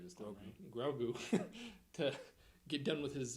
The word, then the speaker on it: Grogu: uh grogu i said it right this time grogu to get done with his his gandhi uh